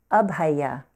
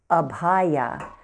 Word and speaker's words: Abhaya: focusing on is pronounced up hiya can you say that up high yeah so you don't want to accent anywhere sometimes I hear students say ab hiya and they'll accent on